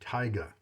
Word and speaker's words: Taiga: trying the stainless steel t-a-i-g-a tyga i assume that's how you pronounce it from home like